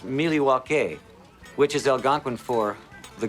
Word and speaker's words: Milwaukee: Actually, it's pronounced Miliwaukee, which is Algonquin for the good land.